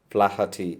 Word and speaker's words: Flaherty: Please understand the pronunciation. Liam O. Flaherty. It is not Flaherty. It is Flaherty, an Irish writer.